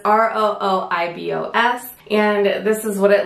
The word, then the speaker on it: rooibos: it pronounced out loud so it's ROI vos and this is what